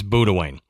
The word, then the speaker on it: Boudewijn: But according to Google Pronounce, it's Boudewijn.